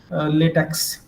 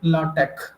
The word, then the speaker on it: LaTeX: to use in lch format that is generally pronounced as latex okay but in professional way in technical way lat latex is actually or it should be pronounced as lch okay if I because nowadays you might have